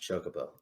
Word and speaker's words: chocobo: finally you stop and i was like it's pronounced chocobo that was a pretty good one but